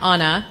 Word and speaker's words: Anna: It's my pleasure today to introduce my friend and fellow Rotarian, Anna, rhymes with Wanna.